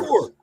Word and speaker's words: Shakur: Shakur. It's Shakur, damn it. Get it right, Gary. Okay, whatever. I just like your pronunciation better than mine, bro.